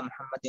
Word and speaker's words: محمد: আচ্ছা আল্লাহুম্মা সাল্লি আলা মুহাম্মাদি ওয়া আলা এই যে মুহাম্মাদ এই হাটাকে একটু চাপ দিতে হবে এরপরে আলা ইব্রাহিমা ইব্রাহিমা